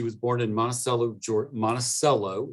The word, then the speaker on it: Monticello: born in monticello george monticello is how you pronounce that monticello georgia in 1881